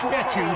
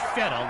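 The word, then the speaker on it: Fetu: for a loss so coach vettel spelled f-e-t-u for the longest time i was pronouncing it coach feta like feta cheese so let's just say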